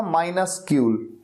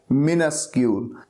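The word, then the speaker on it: minuscule: तरीका कितना अलग है अब मिनस्क्यूल की बात करें तो इसको देख कर के लगता है जैसे ये होगा माइनस क्यूल लेकिन ये क्या है मिनस्क्यूल और पी ई टी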